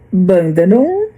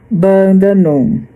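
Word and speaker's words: Bundanoon: Eh, a pronúncia é bandanon, mas eu vou deixar aqui uma foto da cidade para vocês verem como é a escrita, que eu não vou não vou dizer aqui como que se escreve essa cidade. Eh, simplesmente eu vou dizer como se pronuncia. Se pronuncia bandanum, OK?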